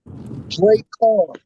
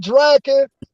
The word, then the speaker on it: Drakhan: It's pronounced Drake Khan. Oh, Drake. Drake Khan. Like Shere Khan in Jungle Book is the same thing. Drake Khan, not Draken, not Drake.